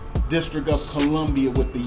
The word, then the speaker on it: Colombia: colia oh yes um they want you to pronounce colia yes or even with the spelling yeah that's why we make sure we say colia cuz it's c o l o m b i a yes if not Columbia